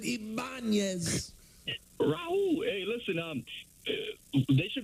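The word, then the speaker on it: Ibañez: Ibanez. Yes. I love Raul Ibanez. They pronounce it Ibanez.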